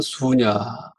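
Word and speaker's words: शून्य: 여러분 서양에는 영이 없었는데이 영을 법으로 뭐라고 읽느냐면 수냐 읽어 수 영자가 안 쓰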